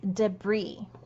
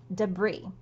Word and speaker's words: debris: it's an interesting word, is actually stemmed in French, and it has a silent letter at the end. So the word is pronounced debris, debris. So two syllables, debris.